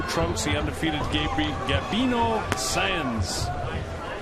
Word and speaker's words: Sáenz: He undefeated Gabri Gabino Sans S E S A E N Z. pronounce sen.